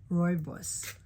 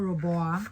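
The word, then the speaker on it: Rooibos: Instagram where he said it's called African Roy Roy bus royos it's not Robo according to him I was like oops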